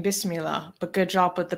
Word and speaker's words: Bismillah: with the room yeah Mustafa is saying there's no hey in Bismillah but good job with the pronouncing did I really put fa in Bismillah no you said there